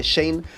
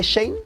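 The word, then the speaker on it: Shein: que las prendas de Shane son baratas, pero no están sostenibles a largo plazo. Último dato antes de que nos vayamos a la pausa. ¿Sabías que Shane no se dice Shane, sino que se dice Shan?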